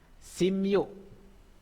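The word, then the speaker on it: 십육: Terus sipyu. Sipyu. Sipyu bacanya simyu. Bacanya simyu ini. Bacanya simyu ya.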